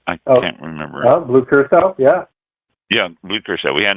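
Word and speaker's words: curaçao: and we had an excess amount of blue corroca is it pronounced i can't remember blue curacao yeah yeah blueprint we had an excess amount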